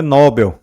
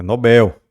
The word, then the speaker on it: Nobel: a gente teria uma paroxitona terminada em R não é Nobel é Nobel certo não é íbero mas